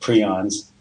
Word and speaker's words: prions: It's spelled prions, but it's actually pronounced prions, the way the inventor of the term calls it.